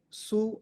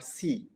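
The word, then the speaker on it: σύ: So you can pronounce it su or si because it's epsilon. It could be pronounced as u or e. Su or si. Some text or some audio files you will read as su or some will be si.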